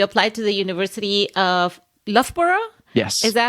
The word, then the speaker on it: Loughborough: And what I find interesting about this is that you applied to the University of Loughborough. Yes. Is that how you pronounce it?